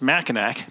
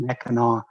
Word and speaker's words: Mackinac: Michigan it's always pronounced Mackinaw no matter how it's spelled so Mackinac Straits Mackinac Bridge Mackin Island all spelled c but pronounced with the w anyway Mackinac Island by